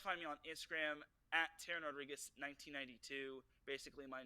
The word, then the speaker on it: Teran Rodrigues: Teran Rodrigues.